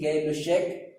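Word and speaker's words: Gay-Lussac: ठीक है, इसको गैर-विषयक ने दिया था, उनका नाम है साइंटिस्ट का गैर-लुशैक लॉ। ठीक है, स्पेलिंग हमारा GAYLUSSAC गैर-लुशैक लॉ।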